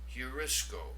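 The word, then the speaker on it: εὑρίσκω: The second word, notice the rough breathing over the opening diphthong. Heurisco, I find.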